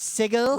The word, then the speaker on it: sigil: opened a portal from sigil to oh it's pronounced sigil whatever to Ravenloft and we mispronounce sigil god